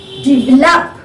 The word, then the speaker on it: develop: Now below, develop, this is stressed, develop, 3-syllable word.